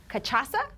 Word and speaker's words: cachaça: Ken has his cachaça, right? Cachaça. It rhymes with Mufasa. Mufasa.